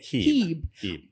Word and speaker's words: Hieb: didn't know that because your name is spelled like H-I-E-B, but you pronounce it Hebe.